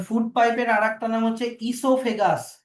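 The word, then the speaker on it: oesophagus: এবার ফুড পাইপের আরেকটা নাম হচ্ছে ইসোফেগাস। ওই এস ও পি এইচ এজি ইউ এস। ও এর প্রোনাউন্সিয়েশনটা সাইলেন্ট থাকবে।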